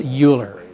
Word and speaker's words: Euler: the definition of an Euler path which is motivated by the kernigsberg problem okay oh by the way do not pronounce this Euler okay because it's Euler that's the correct German pronunciation and so it's this